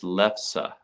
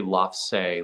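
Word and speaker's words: lefse: uh lefsa did you hear that Megan it's lefsa that's how it's pronounced don't don't pretend like you knew that I've heard you say love say like a million times yeah I don't don't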